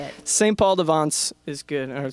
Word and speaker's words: St. Paul de Vence: St. Paul de Vence is good. Or St. Paul de Vence, if you want to be.